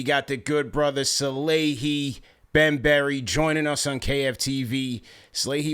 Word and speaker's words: Bembury: We got the good brother Salehe Bembury joining us on KFTV. Salehe, welcome to KFTV, man. Thanks thanks for joining the show. Thank you for having me. First, I got to correct you. Bembury.